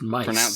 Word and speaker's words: Myth: Meet Kamen Rider Myth, pronounced mice.